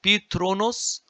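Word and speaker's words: ⲑⲣⲟⲛⲟⲥ: In Coptic, there is no th. There is th, but it is pronounced as t. So Petronos, which means the throne, and the of Pef, his, O or Au, glory.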